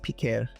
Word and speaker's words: Piker: Jack, check the Dark podcast if you want to know what's going on between H3 and Hassan Piker, or as it's actually pronounced, Piquer.